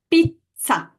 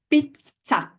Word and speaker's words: pizza: Pizza, pizza. So last syllable, ta. The stress goes on the one before.